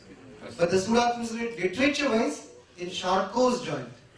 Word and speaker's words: Charcot: this literature wise in charcoal's joint the t is silent it's a french name charcoal is joined it